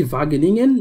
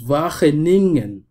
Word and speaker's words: Wageningen: Et comme vous le voyez ici à l'écran, en fait, je dis Wageningen, mais ça se prononce Wageningen.